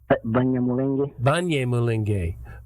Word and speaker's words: Banyamulenge: Am I pronouncing that right? Banyamulenge? Banyamulenge.